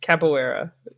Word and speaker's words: capoeira: you do um and i know i've capo capoeira i didn't say that was perfect yeah you